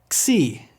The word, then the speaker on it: Xi: Xi's pronounced like our letter X, always with a KS combination sound. It is never pronounced like Z, as we do in an English word like xylophone. Greek only has 1 way to pronounce Xi. It's always this combination KS, Xi sound.